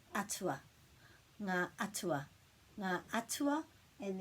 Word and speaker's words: atua: So that sound is āhua, but this one is atua.